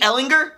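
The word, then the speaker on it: Ehlinger: starter could it be Sam hard G Ellinger or destiny quarterback Shane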